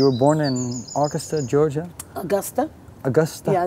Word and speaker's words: Augusta: born in austa Georgia Augusta austa yeah it's like August I know Augusta that's okay that's the proper way to pronounce it Augusta yeah I was born in Augusta Georgia James Brown Hometown